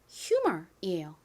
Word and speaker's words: humor: 실제 원어 발음은이 H가 소리가 납니다. 히 소리가 나요. 그래서 정확한 발음은 humor이에요.